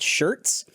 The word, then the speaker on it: Schertz: i think i'm in a place called shirts and i didn't know that it was spelled like sch whatever so i just typed